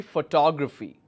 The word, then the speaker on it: photography: V but I will I will stress on the second syllable and the pronunciation will be photography all right if I